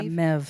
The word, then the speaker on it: Maeve: Am I saying this right? Maeve Beatty. Yeah, Mev, she pronounces it.